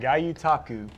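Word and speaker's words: gyotaku: Tell us again how to pronounce it, first of all, Travis. It's called Gayutaku.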